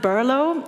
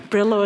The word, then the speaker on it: Berlo: like our beers um we pronounce it berlo and it's actually the old Slavic origin of the name of Berlin but you know we also like other versions like Brillo is also fine or if you want